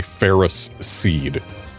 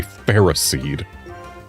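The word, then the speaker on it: Ferroseed: Stupid official pronunciation. It is a ferris seed. A ferro seed.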